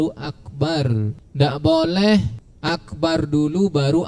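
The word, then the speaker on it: أكبر: wa alla yushaddidal ba, tidak mentasydidkan huruf ba pada kata akbar. Jadi bacanya itu harus akbar, tidak boleh akbar, tidak boleh. Itu ditasydid dia kalau dibaca akbar, ya. Nah, tapi harus dibaca akbar.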